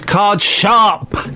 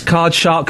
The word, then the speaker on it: card shark: No, it's car shark. Use it in a sentence. Uh, I think the way to pronounce it is card shark. Use it in another sentence. It's card shark, not card sharp.